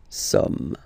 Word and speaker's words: sommes: So you don't pronounce the final S here. It doesn't exist. Somme. Nous sommes, okay?